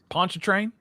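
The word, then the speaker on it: Pontchartrain: Danny, how do you pronounce that big ass lake right next to New Orleans? Poncho train.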